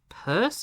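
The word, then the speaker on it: Peirce: It comes from Charles Sand Sanders purse.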